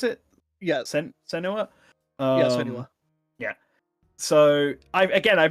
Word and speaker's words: Senua: Is that how you pronounce it? Yeah, Senua.